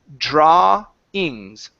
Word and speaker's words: drawings: drawings okay so here instead of saying drawings the W is not going to pronounce an ooh sound in the middle here it's only an A so this is drawings drawings drawings good so